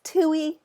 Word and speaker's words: Tui: It's Tui. Tui rhymes with Huey, Dewey, and Louie.